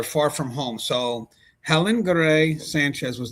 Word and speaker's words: Garay: Garay just forgive me on the pronunciation, guys. So it's Garay, specialized in treating children with congenital heart disease, and she was beloved for her compassion and dedication.